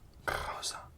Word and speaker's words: rosa: And this one, the R at the start of the word would be again the same, rosa.